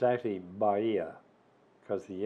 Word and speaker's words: Bahía: which is north of Bahia notice the correct pronunciation of Bahia a lot of people want to say Bahia but it's actually Baria because the H is solid Bahia b-a-h-i-a but